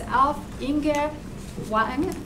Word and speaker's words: Alf Inge Wang: speaker for today it's alf inga wang did i say it right very good okay that's the norwegian pronunciation um alpha's a professor